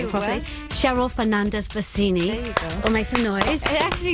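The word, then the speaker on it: Fernandez-Versini: Cheryl Fernandez Bassini.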